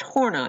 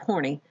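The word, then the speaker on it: Horney: look at a woman whose last name is pronounced horn I its gonna look like horny but its horn I so we'll come back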